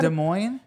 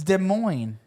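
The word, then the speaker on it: Des Moines: De Mo. Don't. This is like the baloney of cities. It's De Moine. Why are there S's? It's It's French.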